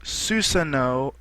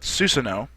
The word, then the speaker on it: Susanoo: the works for a while, and this is Susanoo, as most people, as it's supposed to be pronounced, but Naruto fans and people that know of the ability in Naruto call it Susanoo, and a lot of people they've already made